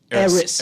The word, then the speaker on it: Idris: Idris. Edris. Yeah. Eris. Eris. The D is silent, right? Yes.